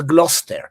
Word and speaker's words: Gloucester: Because in English, you write Gloucester and you pronounce Gloucester. You write Worcester, you pronounce it Worcester.